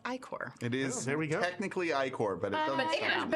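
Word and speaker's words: ichor: oozing H yes I recently learned that it's pronounced ior it is technically ior but it doesn't but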